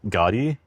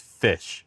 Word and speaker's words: ghoti: You think this word is pronounced gotti? Joti? No, it's fish. The word is pronounced fish and there's nothing you can do about it. The gh comes from the f sound in tough.